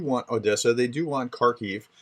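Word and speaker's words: Kharkiv: Odessa they do want kharkif it's pronounced car key not karkhov uh and so um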